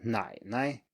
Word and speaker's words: 奶奶: And finally, for the third tone, we have third tone plus neutral tone, and that is, as we saw before, an exception from the rule that the neutral tone is usually lower than the preceding syllable. And here it's higher instead.